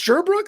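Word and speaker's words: Sherbrooke: It's Sherbrook.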